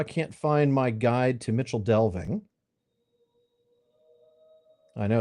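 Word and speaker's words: Michel Delving: I used to Joe, but um because I was pronouncing it according to the Cinderin pronunciations, which would been of course uh Mikuel Delving. Uh but Mitchell Delving like many of the things in the Shire actually comes to us through Old English.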